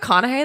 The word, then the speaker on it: McConaughey: movie killer Joe with Matthew McConaughey I think McConaughey that's how you say it right hey hey